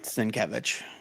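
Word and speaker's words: Sienkiewicz: names and that's where I learned that it's pronounced s kevich there was an interview with Stanley years ago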